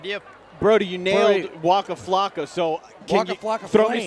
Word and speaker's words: Waka Flocka: All right, so you also said there's this big Halloween party with Waka Flocka, is that right?